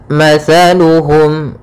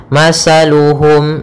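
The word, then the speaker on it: مثلهم: dulumatin laa yubsirun pada bacaan matsaluhum di sini ada huruf tsaa makhrajnya yaitu dari ujung lidah kita ujung lidah menempel dengan gigi seri atas sehingga ketika pelafalan tsa Jangan sampai kita melafalkannya dengan masaluhum dengan huruf Sin hati-hati sering terjadi ya Yang Kesalahan adalah mengganti huruf tsa dengan huruf Sin sehingga dibaca mataluhum Ah tidak tapi dia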